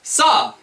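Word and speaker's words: さ: you okay really quickly we have saw just like saw uh like a like a saw you're going to saw some wood saw did you notice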